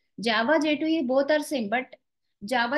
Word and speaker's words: J2EE: Please note down J2E, J2EE, but we will pronounce it as J2E.